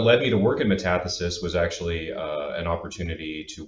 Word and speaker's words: metathesis: I'm also noticing a difference in pronunciation with me and my English pronunciation of metathesis, and you guys all say metathesis. So I'm going to correct myself.